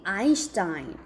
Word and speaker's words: Einstein: 여러분 교과서에는 아인슈타인. 아인슈타인. 아인슈타인 스펠링도 어떻게 써요? 예, 좀 영어랑 다른 언어잖아요. 아인슈타인 이렇게 쓰고 발음은 아인슈타인이라고 합니다.